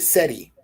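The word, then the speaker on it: Seri: hawk the siri tribe siri s-e-r-i we pronounce it seti but there's s-e-r-i and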